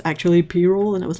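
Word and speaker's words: pyrrole: the way did you know that it's actually payroll and i was like what like i'm so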